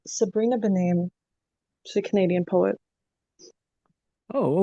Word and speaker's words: Sabrina Benaim: I think I mispronounced her name, but it's Sabrina Benaim.